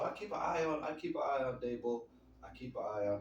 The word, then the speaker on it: Daboll: They got the Giants, and the Giants got Brian Daboll. I believe that's how you pronounce his name. They got Brian Daboll as a coach, and